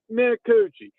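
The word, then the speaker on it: Minicucci: bunch of different things, but it is definitely Mikuuchi and that dude is a warrior.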